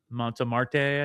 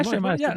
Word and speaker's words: Montmartre: And we went to I'm not going to pronounce this right. Montmartre, I think. Oh, yeah, Montmartre.